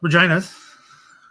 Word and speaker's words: Regina: the uh uh the reginas Regina it's a city in Saskatchewan I people think I'm mispronouncing it I am not uh held out against